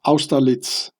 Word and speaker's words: Austerlitz: So here you can read about it in Wikipedia, the Pyramid of Austerlitz. I pronounce it the German way, of course.